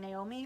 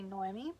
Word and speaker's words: Noemi: for the Phoenix books I wasn't mispronouncing her name um I was saying Naomi her name is actually Noemi ready to fast I